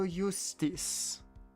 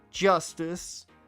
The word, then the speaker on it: Justice: Apollo Eustace. Apollo Eustace. Or Eustace is what it would be, yeah. That's justice.